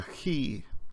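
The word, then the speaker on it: chi: the Scottish word law it's never pronounced CH as in church some people especially English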